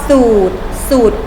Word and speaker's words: สูตร: นั่น เอง นะ คะ 2 อู่ ต่อ สูตร คูณ เห็น ไหม คะ ไม่ ออก เสียง พยัญชนะ ตัว รอ ทำ ต่อ ไป คำ